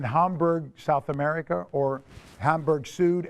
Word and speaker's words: Süd: And in Hamburg, South America, or Hamburg Süd, S-U, glottal stop D.